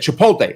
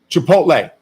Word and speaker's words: Chipotle: did i call it she said chipotle i said yeah she said no that's not correct it's how's the right way to say chipotle chipotle which i of course